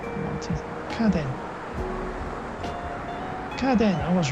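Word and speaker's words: 家電: See, this is family, clan, and I know on its own to be pronounced ka, right? Rather than uchi or in other ways it'll be pronounced. And this is den, which most often den, which is electric and like electric goods. So I haven't seen this word before, but I knew from just experience there's kaden, and so I got it right.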